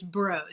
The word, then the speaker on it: Broad: And it's actually broad institute. So it's spelled broad, but it's broad.